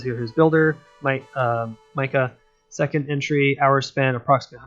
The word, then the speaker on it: Mika: I'm going to say Micah because I don't know how to really pronounce that. Yeah, M-I-K-A is Micah.